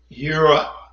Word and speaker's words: Jireh: Now, you may call him God, Jehovah, Jireh. Actually, in the ancient Paleo-Hebrew, he is, and I'm going to use the pronunciation, Yahovah, Yireh.